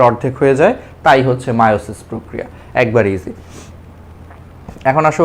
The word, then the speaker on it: মায়োসিস: পরবর্তীতে গ্রিক মূল শব্দ মায়ম। এর মানে হচ্ছে রাস পাওয়া। এর উপর ভিত্তি করে বানান করা হয় মায়োসিস। এখন এটি মায়োসিস হিসেবে হচ্ছে উচ্চারিত।